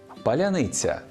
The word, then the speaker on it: паляниця: монету все буде паляниця справді Росія нам важко вимовити це слово бо в їхній мові немає м'якого звука ц так само складно їм